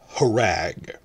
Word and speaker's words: Rhag: for Season 2, but RH means HR. So when you see RHAG, that's harag.